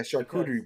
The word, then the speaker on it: charcuterie: Yeah, charcuterie boards or whatever.